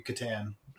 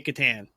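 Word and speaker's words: Catan: uh pronunciation would be Katan yeah that seems to be the Canadian pronunciation okay like I think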